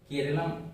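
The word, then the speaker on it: കേരളം: Kerala pronounce as केरलम by local people. Kerala का जो pronunciation है लोकल लोग, स्थानीय लोग उसे केरलम कहते हैं, ठीक है।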